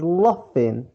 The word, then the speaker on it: laughing: Number 3, he is laughing. Notice here GH pronounced F.